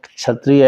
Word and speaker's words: क्षत्रिय: तो वहां पर जो क्षत्रिय है कक्षा काकार अब सीधा सीधा तो छही बोलता बोलता है तो वहां के जो स्वामी जी थे बो सही सही उच्चारण करना चाहिए ठीक ठीक है धर्मक